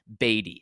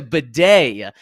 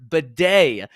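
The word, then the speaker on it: Badie: video last year saying his last name is pronounced batty it's it's uh b a d i e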